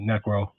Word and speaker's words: Nyeckro: know what you know people people say it one way or the other you know but the you know but the Y is silent. So what is the lore behind Necro?